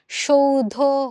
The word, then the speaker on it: সৌধ: ওকে, সৌধ শব্দের সঠিক উচ্চারণ, যদিও বানানে দন্তস্ব আছে কিন্তু আমরা যখন উচ্চারণ করি তখন কিন্তু আমরা এটার উচ্চারণটা তালব্য স দিয়েই করব, এবং এখানে যে ধটা আছে, ধয়ের সাথে যে অধ্বনিটা আছে সেই অধ্বনিটা ও এর মতো উচ্চারণ হয়ে সৌধ হয়ে যাচ্ছে।